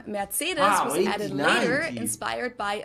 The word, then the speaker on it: Mercedes: in Germany um so most Americans call this Mercedes in German we pronounce it Mercedes so Mercedes versus matus mates so it's really